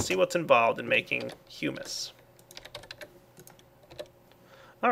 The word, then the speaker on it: humus: put, here we go, humus. Yes, look at that. I pronounced it right. Anybody who's seen my series in the past knows I like to pronounce it hummus. But it's actually humus, and humus is the